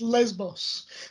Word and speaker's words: Lesbos: yeah first of all it's pronounced lesbos lesbos god when jeff left